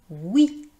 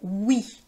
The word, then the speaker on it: oui: Vous voyez dans le mot oui en fait ça s'écrit o u i et pourtant on prononce le son [w] Egalement dans OUATE.